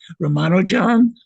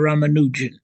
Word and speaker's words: Ramanujan: Srinivasa there are two pronunciations, Ramanujan or Ramanujan. Ramanujan, the Indian mathematician.